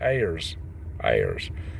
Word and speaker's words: Ayers: them all together but the last name it rhymes with Sayers but it's actually airs airs all right so guys